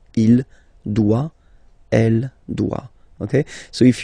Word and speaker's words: doit: Final T not pronounced. Il doit.